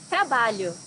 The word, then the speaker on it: Trabalho: Trabalho, job. So also you have the R and the LH here, trabalho.